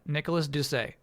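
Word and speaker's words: Nicolas Doucet: Nicholas Ducay as in do say my name correctly, please. Nicholas Duceay.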